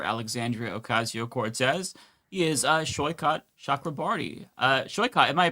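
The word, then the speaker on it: Saikat Chakrabarti: He is uh, Shyot Shakraarti. Uh, Sho, am I pronouncing your name correctly?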